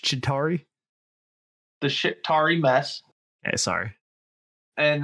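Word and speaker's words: Chitauri: to clean up the shitari mess no no it's uh it's pronounced chitari the shitari mess sorry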